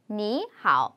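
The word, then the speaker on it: 你好: 삼성이 나란히 나오면은 앞에 삼성을 이성으로 올리고 그 다음 삼성을 하자. 대신에 표기는 그냥 이렇게 하지만 우리가 익혀가지고 이렇게 발음을 하자라고 약속을 해서 니하오가 아니라 앞에 거 이성으로 니하오 이렇게 하기로 약속이 생겼어요.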